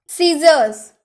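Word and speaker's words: scissors: तो जब भी आपके किसी वर्ड में एस के बाद अगर सी आए ना, तो आप सी का उच्चारण नहीं करिएगा, ठीक है।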